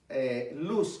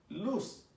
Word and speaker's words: Luz: No es luz como lo diríamos en español. De hecho, cuando uno ve esta palabra en el original hebreo, se escribe L-O-W-S, luz.